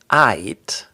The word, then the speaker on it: aight: So we don't pronounce the L. Instead of saying all right, you get aight. It sounds really just like you're saying aight. So really hold that Y sound.